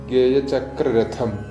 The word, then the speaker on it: ഗേയചക്രരഥം: ചൊല്ലുമ്പോൾ ശ്രദ്ധിക്കേണ്ടത് ഗേയചക്രരഥം, ധ ശ്രദ്ധിക്കണം. പിന്നെ ആരൂഢമാണ് ഇവിടെ. ധ മഹാപ്രാണനാണ്.